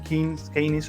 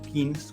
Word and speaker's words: Keynes: El mercado y el Estado interactúan, y aquí John Maynard Keynes, o Keynes, como quieran pronunciarlo, él hace pues esta conexión entre el rol del Estado interviniendo en ciertos contextos y ciertas situaciones.